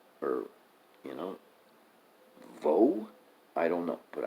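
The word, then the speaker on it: Vaux: that that's probably pronounced view or you know vo I don't know but I know you don't pronounce the X uh but elsewhere I've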